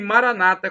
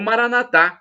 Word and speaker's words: Maranata: E Maranata, como dizem os evangélicos ou protestantes, nossos irmãos separados, ou Maranatá, como dizemos nós católicos, com a tônica na última sílaba.